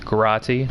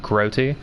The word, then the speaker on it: Grotti: your comment and that it is pronounced Grotti, not Groti.